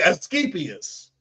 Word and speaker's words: Asclepius: I can't pronounce it. Here you go, right here. Okay, Asclepius.